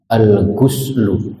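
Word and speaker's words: الغُسل: hadis Jibril alghuslu Baka alghuslu dininnya dibaca domomah Gus maknanya artinya adus atau mandi tadi Kalau dibacanya go gos gosl artinya membasuh tulisannya sama tapi kalau membacanya berbeda nanti artinya berbeda kalau alghuslu mandi kalau alghoslu artinya membasuh baik faslun alghuslu tentang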